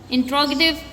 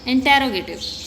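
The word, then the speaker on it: interrogative: इंट्रोगेटिव adjectives, आमतौर पे बच्चे इसे क्या पढ़ते हैं? इंटेरोगेटिव। इंटेरोगेटिव इज़ a wrong pronunciation, ठीक है, आपने इसको क्या पढ़ना है? इंट्रोगेटिव।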